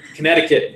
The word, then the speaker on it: Connecticut: how you spoke Connecticut yeah connected cut Connecticut is how it's pronounced alright so America's formal